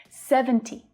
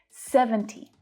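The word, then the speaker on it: seventy: 60, 70, 70. So you might hear native speakers drop the T here as well. It's really common to hear 70 rather than 70.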